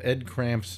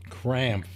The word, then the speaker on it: Krampf: What I did is I spelled Ed Cramp's name wrong. Ooh. Yeah, it was supposed to be, let me see here. That wasn't Ed Crump's? Krampf.